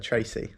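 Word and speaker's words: Treacy: Yeah, our surname is Irish, and it's pronounced Tracy.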